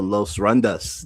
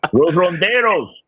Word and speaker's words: Los Ronderos: Shouts out to Los Rondas. Did I say it correctly? Los Ronderos. Los Ronderos. I got it.